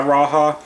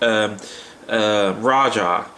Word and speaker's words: Rajah: I'll send you my Rajah, or it might be Rajah. I say Rajah because down here in the South, Spanish is pretty prevalent, so I'm used to pronouncing the J as a H, but it's probably Rajah